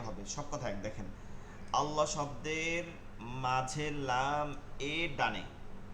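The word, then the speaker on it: الله: পেশের জায়গায় জের হবে সব কথা এক দেখেন আল্লাহ শব্দের মাঝের লাম এর ডানে ঠিক আছে সঙ্গে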